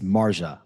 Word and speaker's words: Marjah: those of you listening i'm mispronounced it's marjah i am sorry all right